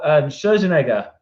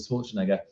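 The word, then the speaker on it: Scherzinger: Then Nicole Scherzenegger, I think that's how you say it. I always get it wrong. I always call it Schwarzenegger.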